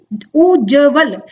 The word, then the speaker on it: उज्ज्वल: हमारा सही उच्चारण क्या होता है, उज्ज्वल ना कि उज्ज्वल। उज्ज्वल नहीं होगा क्योंकि पूरा ज नहीं आएगा, उ ना कि बड़ा उ आएगा, उज्ज्वल ऐसे भी नहीं बोलते, हम बोलते हैं उज्ज्वल।